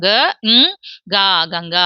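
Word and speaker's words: गंगा: மெய் எழுத்தா for example ஆ ன்னு முடியாம ங் அப்படின்ற உச்சரிப்பை நாம இந்த இடத்துல கொடுக்கணும் புரியுதுங்களா எங்க இந்த புள்ளிக்கு அந்த உச்சரிப்பு கொடுக்கணும் க ங் கங்கா அதே மாதிரி இங்கயும் தொடர்ந்து க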